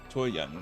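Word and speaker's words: Jiyan: Choyan, that's how you pronounce it.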